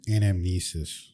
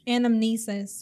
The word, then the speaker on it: anamnesis: an anthus how do you say it again anamnesis anamnesis where we're remembering we're relearning and remembering from